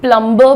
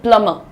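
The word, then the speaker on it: plumber: और मैं तो यह भी कहती हूं कि प्लमबर बोलना या डम बोलना कोई पाप नहीं है because that's again Indian accent. लेकिन यार बात ऐसी होती है कोई शब्द जहां से उसका जन्म हुआ उसका उच्चारण भी वहां से लेना चाहिए। तो इसीलिए हम इसको जो है अंग्रेजों की तरह बोलते हैं प्लमर। कैसे बोलेंगे? प्लंबर नहीं बोलेंगे। प्लमर so please call the प्लमर।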